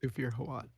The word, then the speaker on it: Thufir Hawat: Through how do I pronounce it? Thufir Hawat.